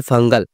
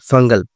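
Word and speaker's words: Fengal: করে রাখছে কিন্তু এই ঘূর্ণিঝড়ের নাম ফাঞ্জাল না বন্ধুরা এই ঘূর্ণিঝড়ের নাম দিয়েছে হচ্ছে শ্রীলঙ্কা আপডেটটা জেনে রাখুন এই ঘূর্ণিঝড়ের নাম দিয়েছে শ্রীলঙ্কা আর এই ঘূর্ণিঝড়ের নাম হচ্ছে ফাঙ্গাল উচ্চারণটা যেটা হবে সেটা হচ্ছে এফ এ এন জি এ এল ফাঙ্গাল ফাঙ্গাল ঘূর্ণিঝড় আসার সম্ভাবনা কিন্তু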